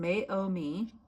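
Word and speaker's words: Meiomi: It's pronounced Mayomi meaning coast.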